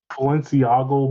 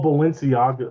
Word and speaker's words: Balenciaga: Uh Balenciaga by AI balenciago by uh sorry sorry I said it wrong oh Balenciaga wait what is a